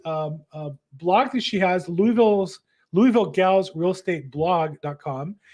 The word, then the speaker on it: Louisville: as investor based in Louisville the best I can say it it's really one syllable Louisville Kentucky Louisville uh Louisville Kentucky